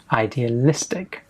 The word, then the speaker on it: idealistic: the writing test, and the stress is on the istic, on the listic. So idealistic. Young graduates tend to leave university feeling optimistic and idealistic about changing the world.